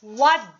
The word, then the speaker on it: what: don't pronounce t okay we don't pronounce t what day is it what